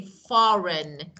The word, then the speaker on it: foreign: foreign language we say foreign again GNN so G is not pronounced we say g is silent okay get it yeah